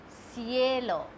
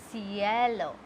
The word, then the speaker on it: cielo: When C comes with E, which is I in English, it becomes S. You have to pronounce it S. Like I told you, cielo.